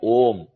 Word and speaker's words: om: know IND the OM if you divide the syllables you get three syllables a u Ma you add a plus u it becomes o you add ma to it it becomes om a ma a added